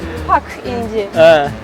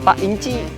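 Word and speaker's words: Pak İnci: Orang Indonesia bukan Pak Inji, bacanya Pak Inci.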